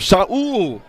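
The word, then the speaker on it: Sal: That'll bring up Saul Garza. spelled s a l but pronounced saul Garza and uh we talk about guys swinging the lumber had a couple of hits last night.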